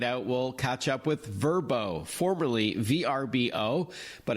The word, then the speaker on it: Vrbo: on check it out we'll catch up with verbo formerly VRBO but it's the same app that